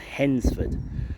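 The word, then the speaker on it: Hednesford: it's headford it's not the D is silent um so it's actually pronounced henford rather than henford but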